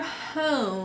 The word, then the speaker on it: home: And when I hear home, I hear an O. So what makes the O say its name? Hopefully the students would be able to identify that it's the silent E or the magic E.